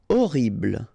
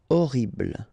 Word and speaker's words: horrible: Horrible. Okay, remember we don't pronounce H here. Horrible.